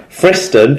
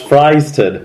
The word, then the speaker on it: Fryston: At Luke Williams MMA, he says, when you read the Challenge Cup results, Friston is pronounced Fryston with a loose S.